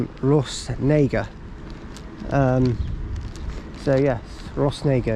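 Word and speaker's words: Rhosneigr: naga um so yes ross nager it's called it's a station that if you say it wrong could sound horrendously controversial um but luckily we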